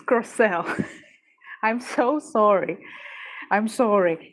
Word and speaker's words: Crocell: Also, it's pronounced Croelle, not Crochell or Crochell. It's Croelle.